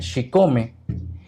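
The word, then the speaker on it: chicome: El número 7, porque el 7 en náhuatl se pronuncia Xicome, y cuando repetimos varias veces Xicome, se conjuga o se crea el Xicome, Xicome, Xicome, México.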